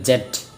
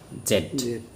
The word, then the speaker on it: Z: আমরা যদিও জি বলি, কিন্তু এটা আমেরিকান ভাষা বলে জেড, সরি, আমরা আমেরিকাতে বলি জি, আর ব্রিটিশে বলে জেড, ঠিক আছে।